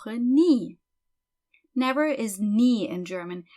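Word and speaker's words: nie: her knee never is knee in German is pronounced exactly like the body part a knee as you can see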